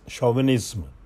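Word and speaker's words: chauvinism: Next is शोविनिज्म, सी एच ए यू वी आई एन आई एस एम, ये भी श से pronounce होता है, ध्यान रखना आपने इस चीज़ों को.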